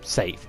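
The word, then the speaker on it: Saif: you to pronounce it it's not how you normally spell scythe if it's spelled s-a-i-f safe but that sounds a bit silly I think it's the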